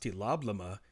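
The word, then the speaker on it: TLOBLM: T-L-O-B-L-M, pronounced tee-lob-la-muh, is real.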